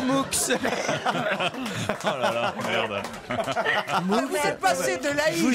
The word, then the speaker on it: Moux: je vais vers Mou, M-O-U-X. Je prononce pas le X de Mou, Pascal. Non, il faut le prononcer. Moux.